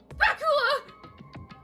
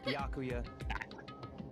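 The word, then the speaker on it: Byakuya: Sorry for Bakula. It's Bakuya. Bakala, she must have mispronounced.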